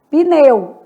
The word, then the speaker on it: pneu: Pneu, tudo junto. porque não existe sílaba sem vogal, ok? Então, essa vai ser a nossa lógica aqui. Vou colocar um pneu mais para cá. Uma sílaba só.